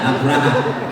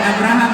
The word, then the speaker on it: Abraha: Abraham. Mantap nih. Bukan Abraham, Abraha. Ya, Abraha. Yakni pasukan gajah. Abraha itu sangat sombong. Mana Abraha? Ini Abraha. Ini udah. Bukan Abraham, Abraha.